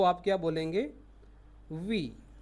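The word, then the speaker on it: oui: अगर आपको फ्रेंच में बोलना हो यस मीन्स हाँ, तो आप क्या बोलेंगे, वी, वी मीन्स यस। फिर यदि आपको नो बोलना हो तो फ्रेंच में स्पेलिंग अलग है, NON है, बाकी प्रोनाउंस वही रहेगा, नो।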